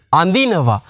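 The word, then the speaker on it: අඳිනවා: திருப்பியும் அந்தினவா அதினவா அல்லது அந்தினவா அந்த அதி இருக்குதானே அந்த தி வந்து தி என்று உச்சரிக்கணும் அந்தினவா அந்தினவா என்றால் ரெண்டு மூன்று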